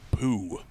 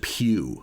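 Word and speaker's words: Pugh: with that last name I think they pronounce it Pew like as in like p-e-w oh like church pew like like what a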